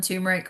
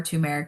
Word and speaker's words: turmeric: We're going to talk about golden turmeric or turmeric depending on how you want to pronounce it.